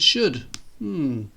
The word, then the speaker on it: should: What's the difference between could, would and should?